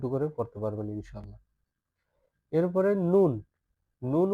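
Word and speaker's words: نون: এরপরে নুন নুন উচ্চারণ করার বেলা কোন কঠিন কিছু নাই।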